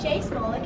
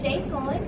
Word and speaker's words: Shay Smolik: Hi, my name is Shay Smolik. It's spelled Shaesmolik.